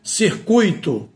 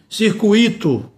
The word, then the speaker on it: circuito: A pronúncia é gratuito, a pronúncia é fortuito, a pronúncia é circuito. Então, quando eu pronuncio circuito, está errado, não é?